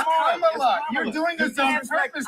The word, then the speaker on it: Kamala: Let me So pronounce her name right. Kamala Harris. If Kamala. You said I will it's Kamala.